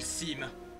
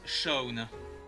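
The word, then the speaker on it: Seam: à vous de celle je m'appelle SIM mais ça se prononce Shawn donc Shaun en gros et voici ma petite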